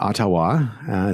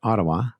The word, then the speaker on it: Ottawa: in ottawa and not ottawa some people like to pronounce it but ottawa that's how the canadians pronounce it and what shopify has